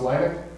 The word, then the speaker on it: Laennec: The 19th century French clinician, and I think it's pronounced Laennec, used to say to his students, listen to your patient.